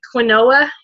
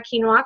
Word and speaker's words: quinoa: know what quinoa and I was pronouncing it like klonoa because I didn't know what it was um but by the way try quinoa cuz it's really good